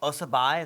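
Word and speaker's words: Aase Berg: i i'm the poet who is called osabai is that correct yeah that's how he's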